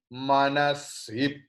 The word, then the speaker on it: मनसि: Om bang me manasip. Now sip. Instead of si, you please pronounce sip.